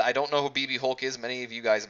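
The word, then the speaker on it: BxB Hulk: Alex Shelley BB Hulk ignore the ex if you look here or take the time to read it it's pronounced BB Hulk C pronounced as BB Hulk BB Hulk who I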